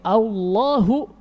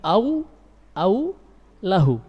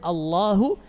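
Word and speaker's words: الله: Menjadi Allahu, bukan lafzul jalalah jadinya, tapi au lahu. Apakah miliknya? Iya, ataukah miliknya, begitu artinya. Padahal harusnya Allahu, di sini Allah memperkenalkan dirinya kepada hamba-hambanya.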